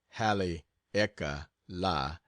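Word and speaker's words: Haleakala: I get back from Hal aala pronounced Hal eeka La I will sail for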